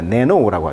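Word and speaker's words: nano: 더구나 recent study, 최근 연구는 show that 뭘 보여주고 있냐면 마이크로, 작은, 심지어는 이제 우리가 이제 나노라고 하는데 영어식 발음은 이제 네노라고 하죠.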